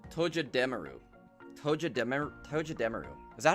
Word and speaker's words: Togedemaru: It's Togedemaru.